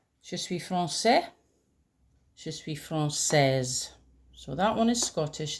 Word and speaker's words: française: Je suis française. So, that one is Scottish, this one is French. This little accent here under the c is called a cedilla, and it changes the pronunciation.